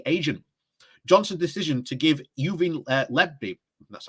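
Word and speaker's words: Lebedev: Johnson's decision to give Yuvin Lebedi, that's how you say it, a peerage was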